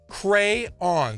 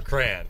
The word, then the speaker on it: crayon: the CEO o of Crayola say it is pronounced crayon that's the top that's it all horse's mouth so what do you say about that buddy hey 43% of people voted for cran your friends yeah come on crayon I'm just